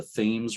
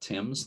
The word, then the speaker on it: Thames: ledge light it's at the mouth of the thames river that is how they pronounce it there not tim's like in england the thames river between new london and groton connecticut and